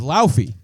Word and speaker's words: Laufey: Because the character's name is Laufey.